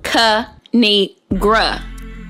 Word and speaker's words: Kinigra: me tell y'all a thing of three it's pronounced ca negra now subscribe oh i cracked myself up thanks